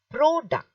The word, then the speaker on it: product: See, this is product. What is it? Product. So you're stressing the first part.